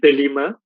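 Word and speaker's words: DELIMa: um so basically uh we pronounce it as the Lima which is actually a fruit or a ruby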